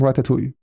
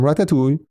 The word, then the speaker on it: Ratatui: So that is something from Ratatoui and from Ratatoui I pronounce it the French way I guess we have some things